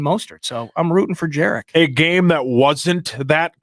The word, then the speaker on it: Jerick: I really hope that Jerick McKinnon, by the way, apparently I've seen online in minutes, it's Jerick, okay? Mm-hmm. Jerick, 2 syllables.